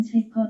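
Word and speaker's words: שֶׁקֶר: A 라이잉 프레이즈 H 8267 음역 쉐커 쉬켜 석혀 발음은 쉐커 석허이다.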